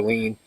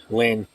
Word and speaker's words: Lheen: I still call her Lean. That's how it looks in American. But it's actually Lynn. That's how you pronounce it in Tagalog.